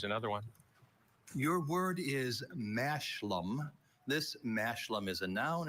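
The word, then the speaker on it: mashlum: Mashlam.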